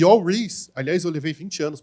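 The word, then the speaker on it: Al Ries: pronunciar o nome dele no Brasil a gente tem a mania de falar All Rise ele fica puto quando fala All rights ele fala meu nome não é arroz não é All Rice né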